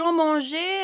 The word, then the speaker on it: mangeais: Donc, on doit ajouter E pour prononcer le verbe exactement.